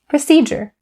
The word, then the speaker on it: procedure: written with the letter d here we don't pronounce it the same way we say proceed that voiced ch sound procedure you use this word to talk about a